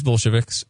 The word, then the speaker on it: Bolshevik: I believe it's actually Bolshevik. Yeah, you mispronounced it a little bit at the beginning, but you caught yourself.